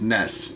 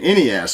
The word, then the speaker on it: NES: initials of each one so nes which phonetically is ness you're right when i was a kid i said ness and then as i got older i noticed everyone around me was saying any ass so i actually changed